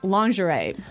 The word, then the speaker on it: lingerie: in our dialogue and the first one is lingerie lingerie lingerie okay so lingerie this is a